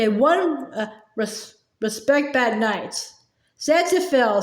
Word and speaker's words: xanthophyll: X-A-N, Zan, said Pa. T-H-O, Xantho, P-H-Y.